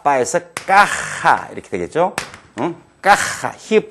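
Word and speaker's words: caja: 허벤, 까, 따, 빠에서 까하, 이렇게 되겠죠. 까하, 히읗 발음을 강하게 한다.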